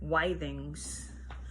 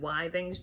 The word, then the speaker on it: Withings: Anyway, the first, a large-scale study carried out by Withings, I think that's how you pronounce it, Withings, W-I-T-H-I-N-G, in collaboration with the Georges Pompidou Hospital